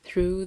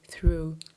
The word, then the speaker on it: through: Look carefully how I put my tongue between my teeth and let air out through the inhibited opening. Theater, thin, thank. This is how you say through, he instructed. Not through, okay?